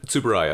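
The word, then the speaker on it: Tsuburaya: Ei Subaya. Subaya.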